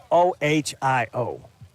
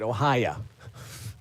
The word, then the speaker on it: Ohio: How do you pronounce O H I O? Ohio. Thank you. Listen to Vaught's Views, Larry called it Ohia. There's no A in Ohio.